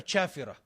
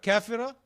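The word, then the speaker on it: كافرة: pretty, but you're a chafira. That's how they say in their language. they can't pronounce that properly. They call them, instead of kafira, they say chafira.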